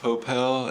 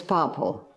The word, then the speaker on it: Popple: Is that how you pronounce his name, Popel, and not Popple? It's Popple. Okay. Yes, it is Popple. I say Popel sometimes, but it's not. It's Popple.